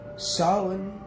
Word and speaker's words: Samhain: there and they're like well what's he saying solid is really the way we we pronounce same name and someone is really about